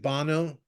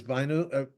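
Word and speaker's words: Bhanu: name is Banu uh it sounds like Bano but it's boo I mean that's how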